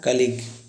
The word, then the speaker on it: colleague: एक होता है कलीग, कलीग सुना, कलीग में ना तो जो साथ